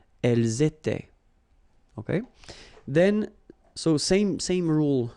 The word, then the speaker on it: elles étaient: And then remember, this is not pronounced. Elles étaient.